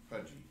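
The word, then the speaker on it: Puje: pretty boring that's right it's spelled funny uh it's spelled p-u-j-e but it is pronounced pudgy that's wonderful all right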